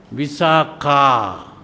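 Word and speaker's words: Visākhā: But when it is a female, you pronounce it as visaka.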